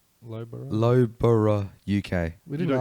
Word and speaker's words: Loughborough: Loughborough. Yeah, Loughborough. Loughborough.